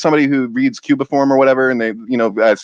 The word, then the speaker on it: cuneiform: So Cuneiform, that's how you say it.